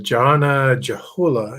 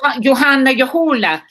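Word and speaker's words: Johanna Juhola: Uh, Janna Joolah, if I remember. Oh, Johanna Yahoola. Yeah, she's funny. Ethan, how did you pronounce that?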